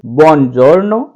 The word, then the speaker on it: buongiorno: इस तरीके से इसका उच्चारण करेंगे। आप साथ में बोल करके रिपीट कीजिए, buongiorno, buonasera।